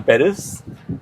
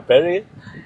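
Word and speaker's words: Perri: I mean, I I I I particularly like uh the songs of uh Adele, Christina Paris. Uh Mahi has been Yeah. Peris. Yeah. Perry. Sorry. Yeah. I I pronounced it wrong.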